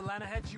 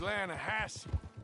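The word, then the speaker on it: Lannahechee: other day I roll it down to the Lana Hetchy River I caught some beautiful steelhead trout you made an elaborate no no no the Lana hatch it runs right near here yeah but it's pronounced Lana Hass why is everything in English said differently than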